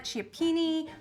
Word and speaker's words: cioppino: So we are calling it cioppino. If you call it cioppini or cioppino or whatever, this is so delicious no matter how you say it.